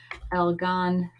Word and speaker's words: Algonquian: I'm spelling it how it sounds. Algonquian. There. That's how I remember how to say it.